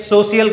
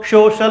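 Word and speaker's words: social: कैसे कहते हैं इसे, सोशियल कहते हैं। क्या कहते हैं, सोशियल। सोशियल नहीं होता दोस्तों, सोशल होता है, सोशल होता है दोस्तों।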